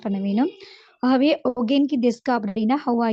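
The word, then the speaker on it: お元気ですか: ஆனால் அதை ப்ரொனவுன்ஸ் பண்ண நேரம் இஸ் ப்ரொனவுன்ஸ் பண்ண வேணும். ஆகவே ஒகேன்கி டெஸ்கா அப்படின்னா ஹவ் ஆர் யூ அப்படின்னு வரக்கூடியதாக காணப்படும்.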